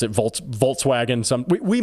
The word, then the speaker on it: Volkswagen: to instead of Volkswagen Volkswagen as the Germans might say uh to Volkswagen VTS